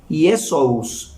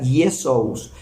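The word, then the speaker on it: Ἰησοῦς: Dice que en arameo se pronuncia Joshua, en arameo es Joshua, en griego es Iesous, en griego se pronuncia Iesous, en latín Iesus, y dice que en español es Jesús.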